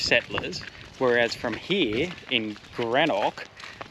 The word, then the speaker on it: Greenock: over they call it greenock because they're scottish settlers whereas from here in grenoch they're german settlers so they pronounce it differently and it's amazing to